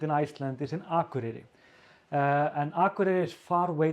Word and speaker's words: Akureyri: So they would say, I say Akureyri, like, and the K when I pronounce it, it sounds like G, at least in Icelandic, like Akureyri. But they say Akureyri, Akureyri.